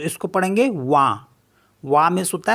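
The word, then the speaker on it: vin: related जैसे वी आई एन तो इसको पढ़ेंगे वा वा मीस होता है वाइन एफ आई एन इसको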